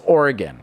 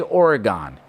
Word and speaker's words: Oregon: emphasize the fact that it's pronounced oregon okay because a lot of new yorkers say oregon hey google how do